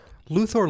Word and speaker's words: Luthor: sweat as Clark Kint Luthor Luther is kind of either or kind of thing it depends on it